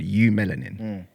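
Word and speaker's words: eumelanin: So, for example, the um the scientific term for the melanin that we have as black people is called u melanin. It's spelled eu melanin.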